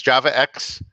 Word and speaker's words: javax: You pronounce this as JavaX.